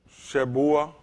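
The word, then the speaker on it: שבועה: Shebua, Shebua. Because it's kind of the E is silent here.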